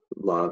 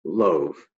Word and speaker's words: love: exactly as they sound love has an o and an e but it's not pronounced loaf now we're going to